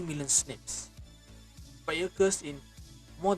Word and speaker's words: SNP: SNPs, pronounced SNP.